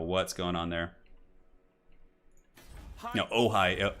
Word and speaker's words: Ojai: No, Ojai. It's spelled O-J-A-I.